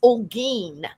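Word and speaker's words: Olguin: But my maiden name, since you've all darked it, is Olen. That is spelled O L G U I N.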